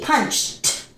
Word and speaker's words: punched: so punch okay now this one is T punched punched okay punched punished punished